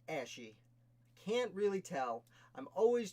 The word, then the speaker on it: Ashe: Alright, so our next founder is John Ashe. Perhaps it's pronounced Ashy.